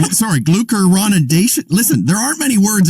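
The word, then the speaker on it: glucuronidation: a new word to obsess over and it's gluconeration sorry glucoronidation listen there aren't many words out there with six syllables in it i'm glucose oh thank you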